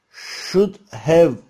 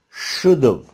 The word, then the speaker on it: should have: Should have arkadaşlar, hızlı bir şekilde telaffuz edebilmemiz için iki şekilde telaffuz edebiliriz. Birincisi şuda, ikincisi should've olarak kısaltarak telaffuz edebiliriz. Örneğin, I should have studied English more. I should have studied English more. Bu şekilde daha çok telaffuz edilir ana dili İngilizce olanlar tarafından.